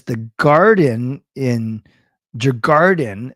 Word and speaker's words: Djurgården: Jay says the garden in Djurgården is pronounced Gordon.